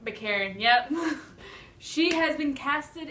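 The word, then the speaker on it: Baccarin: Also, Marina Bakarin. That's how I would pronounce that. Bakarin.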